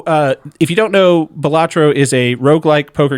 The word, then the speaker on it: Balatro: references to already is the game of batro or balatro balatro yeah that's how I pronounce it it's balatro okay yeah I'm going